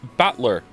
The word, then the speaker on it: Battler: close all right good my name is written batler can you read it nope the first part is my family name that's a fairly plausible Japanese pronunciation so far not from me the problem is my given name whatever is made up oh of the characters for fight and person and it's pronounced battler put it all together